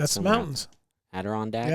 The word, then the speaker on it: Adirondacks: Adirondacks? The Adirondacks are those Did I say it right?